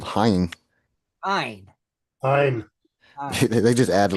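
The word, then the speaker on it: haüyne: They added way too many letters. It's just called Hein.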